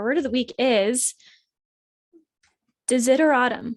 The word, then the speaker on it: desideratum: of the week is de zitter autumn i think it's how you say it to zitter autumn d-e-s-i-d-e-r-a-t-u-m and it is something that is needed or wanted so it's kind of like like desire is in there autumn is it or autumn yeah or autumn that was hard for me to say uh because the s is not a s sound consider it's weird interesting